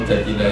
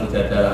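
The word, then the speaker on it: المجادلة: Memang Mujadilah itu beberapa ulama bacanya Mujadilah, perempuan yang mendebat Tuhan. Tapi ada ulama yang baca Mujadalah karena diambil makdarnya kan, jadalah ijadilu mujadalatan.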